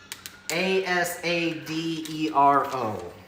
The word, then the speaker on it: Asadero: It's Asadero, for those wondering.